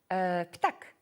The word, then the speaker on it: ptak: Ptak.